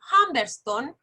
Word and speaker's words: Humberstone: Dice las oficinas salitreras de Humberston, que se escribe Humberstone, que es el apellido